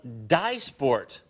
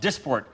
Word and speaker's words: Dysport: called Dysport.